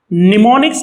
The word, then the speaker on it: mnemonics: Mnemonics can be written like this: M-N, mnemonics here, M is silent.